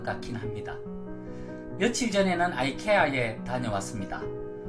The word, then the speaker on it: IKEA: 며칠 전에는 아이케아에 다녀왔습니다. 어떤 분들은 이케아라고도 하시던데 사실 스웨덴 본토 발음은 이케아에 더 가깝다고 하네요. 미국에서는 아이케아 또는 아케아라고 부르고 한국에서는 스웨덴의 본토 발음에 가깝게 이케아라고 부른다고 하네요.